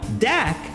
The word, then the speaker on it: Dak: Meanwhile, Dak rhymes with sack, and that's troubling.